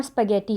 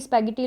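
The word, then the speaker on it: spaghetti: This is नॉट स्पैगेटी। स्पैगेटी लोग कहते हैं, दिस इज़ स्पैगेटी।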